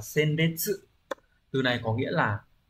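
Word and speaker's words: 鮮烈: Các từ còn lại, ví dụ từ đầu tiên, chữ Hán là chữ tiên và chữ liệt, đọc là senbetsu.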